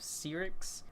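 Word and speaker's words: Syrinx: playlists and that's 2112 overture and temple of sea ryx thing that's how you pronounce it probably one of the best openings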